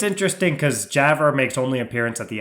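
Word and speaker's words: Javre: we know to be uh how do we pronounce this yav javra thank you on the doorstep of their Smokehouse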